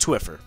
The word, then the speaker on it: Twphper: That's pronounced Twphper.